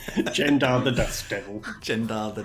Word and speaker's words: Gendarr: Well, as discussed, it's Gendar. yeah, Gendar. It's yeah. Gendar. Exactly. Jendar the Dust Devil.